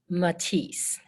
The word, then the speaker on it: Matisse: M-A-T-I-S-S-E, Matisse.